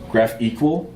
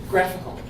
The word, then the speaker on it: GraphiQL: which it's GraphIQL, and I think it's like GraphEqual is how they want you to pronounce it. I have no idea. If somebody does know after the session, please correct. Graphical. It's graphical. That makes way more sense.